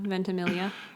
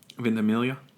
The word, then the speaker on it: Ventimiglia: Milo Ventimiglia. Yeah. Oh, man, his last name is so long. I only know because I've heard him say it. Ventimiglia?